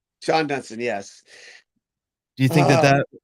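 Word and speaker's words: Shawon Dunston: How about it's actually Shawan Dunston, but it's actually pronounced Sean Dunston. Sean Dunston, yes.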